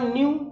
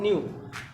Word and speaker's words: knew: और यहाँ न्यू, KNEW, न्यू, के यन से पहले के आया है तो इसलिए इसको हम पढ़ते हैं न्यू।